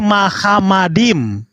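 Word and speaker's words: מחמדים: Nggak ada bacaan Muhammad di sini. Tapi Mahamadim. Mem, khet, mem, dalet, yod dan mem. Nikutnya semuanya dipakai nikut a, bukan nikut o.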